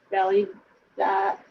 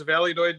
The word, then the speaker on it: Valladolid: What is Validad?